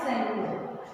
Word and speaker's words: Tsangpo: और इस नदी का नाम है सेंगो। देखो स्पेलिंग है बेटा TSANGPO, बट इसमें टी हमारा साइलेंट है तो इसको सेंगो। It enters India through Arunachal